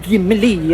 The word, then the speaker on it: Gimli: It's not the Gimli, it's just Gimli.